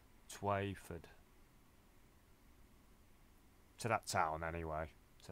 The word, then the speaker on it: Twyford: I keep pronouncing it Telford, but it's not Telford, it's Twyford.